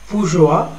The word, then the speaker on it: bourgeois: The capitalist class is called a bourgeois, of course, the spelling is like that, but then we used to pronounce like this, bourgeois, and the proletariat, working class.